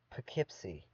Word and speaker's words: Poughkeepsie: But in this town, they pronounce her name Poughkeepsie.